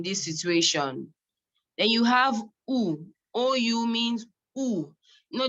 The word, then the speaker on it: où: So there is où, and it's pronounced the same way. Où and où is pronounced the same way, no difference.